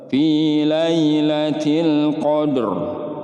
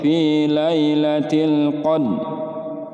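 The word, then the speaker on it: في ليلة القدر: krim dibaca tebal ya Pi lailatil Qadr enggak boleh pilih lailatil cone atau pillay laciel kode ini salah Hotel termasuk salam besar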